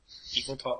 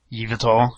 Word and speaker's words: Yveltal: Oh, Evil Tall, or however you pronounce his name. Yveltal, yeah.